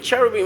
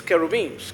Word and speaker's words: cherubim: Cherubim is not the original pronunciation. It's kerobines. Kerobines.